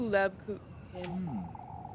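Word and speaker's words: Lebkuchen: You too, Lebkuhin. God, why is her name so hard to fucking say? It's 'cause that C is silent.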